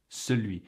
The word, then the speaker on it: celui: Celui. When you hear it said slow, it sounds just like that. Celui. In fact, for me, ce is pronounced the same as CEUX, C-E-U-X.